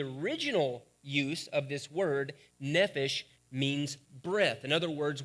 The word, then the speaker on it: nephesh: the word for soul comes from the word nephesh is how it's actually pronounced it's used 765 times in the Old